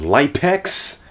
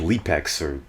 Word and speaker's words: LypeX: also we're gonna have light pecks I think his name's actually pronounced Lee pecks whatever cash says his